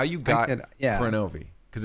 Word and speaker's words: Kronovi: Yeah, well, it wasn't originally spelled with a K. Well, look, full screen. That was what I kind of lucked into a little bit with it. It was originally just a 2-word combination, Chrono-Vie. Okay.